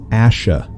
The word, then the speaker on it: Asha: timeline right now that their last name is Asha not a sure we were kind of